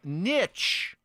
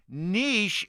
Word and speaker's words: niche: While niche is the older, more traditional pronunciation, especially common in American English, niche is the pronunciation favored in British English and is gaining more popularity in American English. Both pronunciations are considered correct.